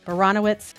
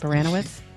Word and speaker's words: Baranowicz: Nope, Baranowitz. No, what does it rhyme with? Danowitz. Baranowitz. Yes, Baranowitz. I got it.